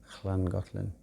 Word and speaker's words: Llangollen: It's famous for the singing competition, Llangollen, double L. Even I can just about pronounce it, Llangollen.